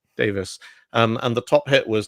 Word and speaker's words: Davies: Davies or Davis? I don't. How does he pronounce it? I think it's Davis. Davis.